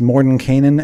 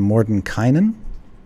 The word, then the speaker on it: Mordenkainen: His name has been pronounced Mordenkainen and Mordenkainen. As far as I know, both are correct.